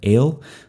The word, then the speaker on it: El: Okay, the Semitic word for God, El, that's a tsere vowel. It's two dots side by side, a long E vowel. It's actually pronounced A, as in they.